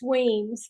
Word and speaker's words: Wemyss: Did I say it right? Not quite. It's Weems, but close Wemyss.